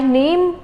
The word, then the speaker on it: Name: It's not name in German. It's known as Name. How do we pronounce it as? Name. As we learned, A is known as A in German. So it becomes Name.